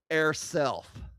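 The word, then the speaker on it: eirself: It is used to affirm a person's gender identity, often pronounced air self.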